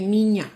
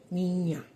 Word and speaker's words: niña: Like when you say niña, little girl, like a little girl, niña. It's ni, N-I, and then ñ, a, niña.